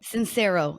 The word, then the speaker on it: Sincero: Sincero. It's spelled like sincere. S I N C E R O.